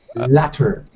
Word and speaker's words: latter: Later. Huh? Later. No, there's two T's. I didn't misspell it. What? Latter. Latter. Okay. Latter. Very British.